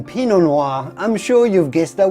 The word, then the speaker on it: Pinot Noir: to say just simply Pinot Noir as long as you do not pronounce the T at the end of Pinot so do not say Pinot Noir for sure then yes